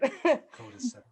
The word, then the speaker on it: Cordyceps: Cordyceps.